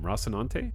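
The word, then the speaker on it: Rocinante: Mission take a shot is that how you say the ship name rossinante yeah that that is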